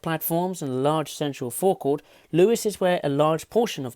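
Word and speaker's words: Lewes: I now know what how to say it Louis and it's arguably the hub of the East Coast way it arranged in a v-shape and made up of five platforms and large central forecourt Louis's where a large portion of the action happens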